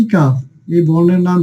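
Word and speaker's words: كاف: কাকা বলে যে এই কাফের উচ্চারণটা কিন্তু সহজে আমাদের হয়ে যায়। তো প্রিয় শিক্ষার্থীগণ, চলুন আমরা একটু কাফের মাকড়াসটা দেখি। যে জিহ্বার গোড়া থেকে একটু সামনে উপরে তালুর সাথে লাগিয়ে বলতে হবে কি?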